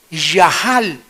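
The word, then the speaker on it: יחל: Yahal. Se escribe yachal con ch, pero se pronuncia ya, que significa aunque me quite la vida, seguiré confiando en que Dios es bueno.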